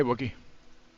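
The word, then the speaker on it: Wookiee: Wookie rhymes with Nookie.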